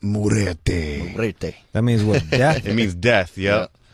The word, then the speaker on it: Muerte: That's pronounced Muerte.